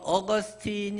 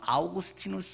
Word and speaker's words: 아우구스티누스: 사람이다 라고 또 이야기합니다 성 어거스틴 이라고 표현한 이 많 은 언제나 중에 영어식 발음으로 된거고 사실 좀 더 정확하게 한다면 성 아우구스티누스 수라고 바로 하는게 사진은 좀 더 정확하게